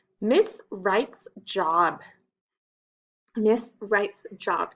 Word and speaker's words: Wright's: Miss Wright's Job. Do you see the silent letter? The W.